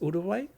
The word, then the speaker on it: Uruguay: I don't want to say it wrong, but I think it's Uruguay, right? Like I think the G is silent.